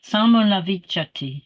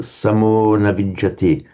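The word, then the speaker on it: saṃhati: the least difficult anyway Samhati okay you said you again you shorten samati sami yes always long always yeah and um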